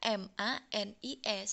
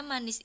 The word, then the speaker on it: manis: Kalau i miring itu tulisannya itu i tapi membacanya itu seperti e. Contohnya manis, tulisannya MANIS, tapi tidak boleh membaca manis karena manis itu bahasa Indonesia. Jadi manis, i-nya itu dibaca seakan-akan e.